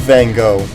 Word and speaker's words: Van Gogh: gogh then as i learned it was correctly pronounced uh you have van gogh and i really as much as i would